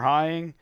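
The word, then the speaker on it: Heying: and his wife Heather Hying, is that how you say it? Okay, and somebody else. Rhymes with flying.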